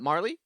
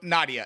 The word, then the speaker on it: Nadia: I I got to say, okay, can you please pronounce uh Marl's actual birth name one more time for me, please? Uh Marley. No, Nadia.